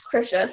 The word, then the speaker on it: Krisha: But yeah, so it's pronounced Krisha. So it's like Trisha, but with a K is how I've always helped people with their mindsets to figure it out.